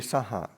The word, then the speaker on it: saha: That word saha Well, it should be saha. should be just short. Ti sarane nasaha silani. So that it should, it's like to pronounce it properly would be it'd be two short syllables.